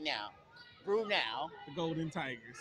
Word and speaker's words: Brenau: especially Golden Tigers fans, what is the correct pronunciation of Brenau? Now, I get Brenau. Thank you, Ms. McClendon. Cindy Cannon say Brenau, N-A-U. So Brenau, Brenau, okay. So there is no such thing as Brenau, like nah.